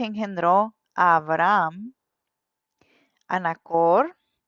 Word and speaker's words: Abraham: Y cuando Dios le cambia el nombre, se pronuncia Abraham. Tiene una H ahí y la H sí se pronuncia.